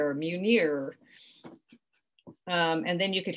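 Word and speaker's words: Mjölnir: then l l in i are and it's pronounced munir munir um and then you could have maybe some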